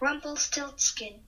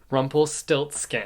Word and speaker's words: Rumpelstiltskin: Rumpelstiltskin. Rumpelstiltskin. It's a loose retelling of Rumpelstiltskin, but I didn't know that till after reading it, and I also don't really know that much about Rumpelstiltskin.